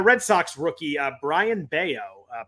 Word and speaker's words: Bello: sox rookie uh brian baio uh pronounced like scott baio so i did get that one right for once um oh i thought it was bellow because is it because